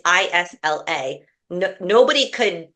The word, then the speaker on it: Isla: No one could pronounce her first name. It's Isla.